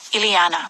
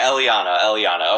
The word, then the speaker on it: Eliana: Especially this one girl, Ileana. No, okay, Eliana. Okay.